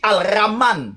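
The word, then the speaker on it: الرحمن: Vous voyez, c'est comme on dit Alraman, c'est-à-dire le miséricordieux. Le c'est juste ça veut dire le mais quand tu mets un, tu ne prononces plus le hal. Tu dois pas prononcer le hal.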